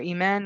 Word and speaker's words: Aiman: My name is Aiman. I know it's spelled like Aiman, but the Arabic for Iman means faith.